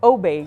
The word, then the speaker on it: Aubé: Now my last name is Obey, which is French, but it's Parisian French.